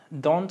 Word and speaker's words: don't: Life botles don't always go. La t, si pronunciáramos la palabra don't, debe sonar la t, pero cuando va más corrido, simplemente decimos don, don don't.